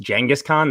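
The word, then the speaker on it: Genghis Khan: i cannot respect you enough for saying jengas jengas khan that's the correct way to pronounce it all right thank you thank you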